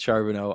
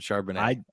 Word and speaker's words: Charbonnet: You pronounce it Charbonneau, I pronounce it Charbonnet.